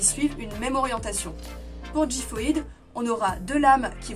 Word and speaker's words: Xiphoid: Pour le Blade, on a Gifoid. Et oui, on sait maintenant que ça se prononce comme ça grâce aux vidéos de Takara Tomy.